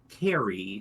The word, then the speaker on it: Kairy: Yes, I might mispronounce it a little bit, but it is Carrie, spelled Kairy.